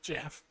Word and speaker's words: Geoff: Jeff, It's spelled Geoff, Jeff.